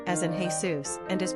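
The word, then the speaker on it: Jesús: However, Jesus as a given name is distinct to Spanish-speaking cultures and usually rendered with an accented "u" as in "Hey Sous" and is pronounced "Hey S.O.S."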